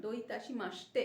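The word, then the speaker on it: どういたしまして: লিখছি C, pronunciation হচ্ছে এস, এস এর উচ্চারণ, দো ইতাশি মাসতে, একসাথে মাসিতে বলে না, মাসতে, দো ইতাশি মাসতে।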